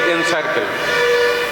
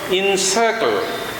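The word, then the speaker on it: encircle: পরের যে ওয়ার্ডটি ইএনসিআইআরসিএলই, আমরা বলি এনসার্কেল না, এনসার্কেল না, এর উচ্চারণ হলো ইনসার্কেল।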